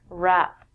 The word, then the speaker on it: wrap: it overpowers it we don't say the W when we say this word wrap there are two meanings